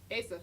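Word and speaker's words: Eiza: Asa, yes, it's Nice.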